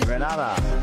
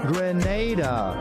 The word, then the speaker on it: Grenada: So, today, like we German say, we are in Granada, but I heard in English it's called Grenada. Say it right. Grenada.